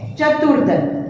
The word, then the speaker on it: चतुर्दल: चतुर्दल, तो देखो उसमें क्या है कि चतुर्दल में द के ऊपर रहता है चतुर, चतुर तुर, तो के बाद हम रू का उच्चारण करते हैं। चतुर्दल, तो के बाद हम उसका उच्चारण करते हैं, इसके ऊपर रेफ आएगा राइट, चतुर्दल।